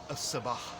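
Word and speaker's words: الصباح: this word, it becomes a sabah. Because sad is a sun letter, we have to eliminate the lam from the definite article and duplicate the sad.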